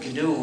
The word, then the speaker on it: GNU: of our operating system please do not follow the dictionary because if you say the the new system you'll get people confused you see we've been